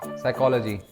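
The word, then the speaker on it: psychology: yes here you गो साइकोलॉजी yes Nippu okay -10 okay yes पी is silent and साइकोलॉजिस्ट कितना तो यार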